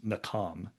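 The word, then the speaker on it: nacham: or the the pronunciation of the word is nam is how it's pronounced.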